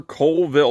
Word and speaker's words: Coleville: Road okay 275 lower Coalville like coal uh but it's spelled c-o-l-e not like coal like the Hard Rock